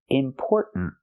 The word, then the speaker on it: important: Make that stop T sound, put your tongue up. Important. It's not just the N. Important, important. It's important. The tongue goes up and makes a stop T at the end.